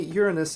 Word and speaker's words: Uranus: There is a solution to this problem, the alternative pronunciation of the name, which goes Uranus. And most scientists in public roles do use this pronunciation. But for me, Uranus is still problematic.